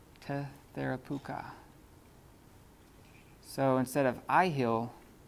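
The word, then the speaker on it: τεθεράπευκα: So instead of thethe, they say tethe. Tetherapuka. Tetherapuka.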